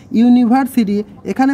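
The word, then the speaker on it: university: এ বসার কারণ হচ্ছে ইউনিভার্সিটি এখানে প্রথমে ভাওয়েল আছে কিন্তু উচ্চারণটা কিন্তু ইউনি ওয়াই ও ইউ এর মতো ইউনি ওয়াই ও ইউ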